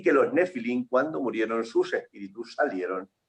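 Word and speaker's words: נפילים: en Génesis 6, que en hebreo se pronuncia nefilín, que quiere decir caídos,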